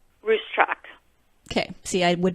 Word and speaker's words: Ruscsak: cs/ei K comm say once again how you pronounce your last name racetrack okay see I would not have gotten that